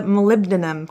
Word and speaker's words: molybdenum: It's one single layer of molecules thin, and it's a molybdenum compound.